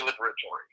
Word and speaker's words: Liberatore: Liberator so I say liberatory so you do say with the E on the the E liberatory on I pronounce the e at the end most of my family